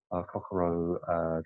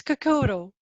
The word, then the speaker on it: Kokoro: much for the invite it's Kokoro Kokoro I said really after